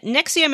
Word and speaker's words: NXIVM: And Nexium is spelled Nxivm, because of course it is.